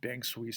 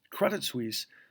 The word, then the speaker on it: Credit Suisse: is Credit Suisse and my apologize apologies for mispronouncing their name yesterday I said Bank Swiss for some reason but Credit Suisse um was rumored to